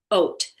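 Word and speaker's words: אות: It's a miraculous ot. So I always joke and say in the morning I get up and have my oatmeal because it's pronounced like oat.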